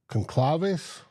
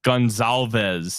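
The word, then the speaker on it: Goncalves: 15, Indianapolis Colts, Matt Conclaves. Interesting. Offensive tackle. Pittsburgh. Gonzalez is how it's pronounced.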